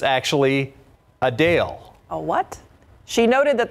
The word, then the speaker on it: Adele: While many pronounce it like I just did, Adele, the singer says it's actually Adele.